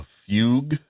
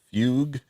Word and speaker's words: fugue: There's a fugue. Uh not to be pronounced fugu, but a fugue.